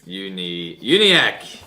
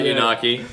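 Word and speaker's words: Uniacke: How to say this? Uniac. Yes. Oh, not nailed it. Not Unaki. Yeah. As I've been saying. Not unicycle. Not unicycle.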